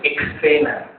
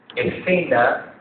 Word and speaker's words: escena: a ver la siguiente exena no existe exena escena que se escribe e s c n s vi silaba Dice es ca no ex sena y hay gente con